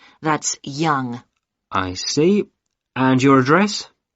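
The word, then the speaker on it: Yonge: now can i have your name yes it's young young that's that's spelled y o n g e that's young i see and your address 15 caper cayley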